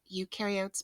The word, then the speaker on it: eukaryotes: set go here again eukaryotes much more complex you rhymes with do and new because they do have a nucleus pro rhymes with no there's no nucleus and prokaryotes all right so microscopes